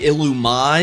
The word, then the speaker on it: Illumise: However, again, this is one that's pronounced differently because this thing's name would actually be Illumise. And I bet you probably didn't even know that Illumise's name was pronounced that way. It's like French. It's weird.